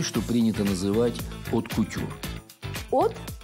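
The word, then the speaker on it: haute: От, H-A-U-T, это произносится как от, это высокая.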